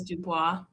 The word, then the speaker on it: DuBois: How was it pronounced in the audiobook? It was Dubois. No, see, in my head, I kept calling it Dubois.